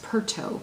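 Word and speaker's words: Piirto: to and I guess the name is pronounced pert Oh PII RT oh and she is another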